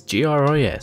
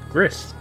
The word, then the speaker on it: Gris: It's just four letters, G-R-I-S, so I'm going to say Gris.